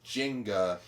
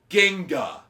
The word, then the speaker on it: Ginga: He pronounced Ginga as Jinga, and I literally needed to shout I shouted at him from my seat, "It's Ginga!" And then you got thrown out of the theater.